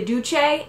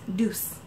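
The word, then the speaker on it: Doucce: video told me that the duche is actually called pronounced deuce who knew but now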